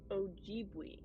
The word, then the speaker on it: Ojibwe: Ojibwe.